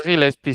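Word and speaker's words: Gillespie: Es Gilespi. Sí. En en Procycle Stats han añadido la pronunciación de algunas y algunos y algunas ciclistas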